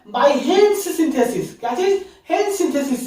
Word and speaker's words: Hantzsch: तो आज की क्लास में जो हम सिंथेसिस करने वाले हैं पैरोल का, वो करने वाले हैं बाय हेन्स सिंथेसिस. क्या चीज? हेन्स सिंथेसिस से. इसका स्पेलिंग क्या है?